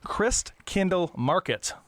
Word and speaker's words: Christkindlmarkt: it's spelled well Chris Christ Kindle is like Kindle the Amazon thing but there's no e